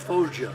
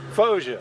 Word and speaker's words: Foggia: Well, Italy, we flew out of Foggia. Foggia, that's it. That's what I'm trying to pronounce.